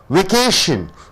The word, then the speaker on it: vacation: Vacation. Vacation. Vacation, any word ending with T-I-O-N is a noun. So you have 3 syllables. Vacation. Vacation. Vacation. Vacation. You have to stress on this K-A-Y.